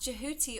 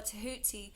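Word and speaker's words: Djehuty: the monkeys to space the god thoth pronounced jahuti or tahuti was the ancient egyptian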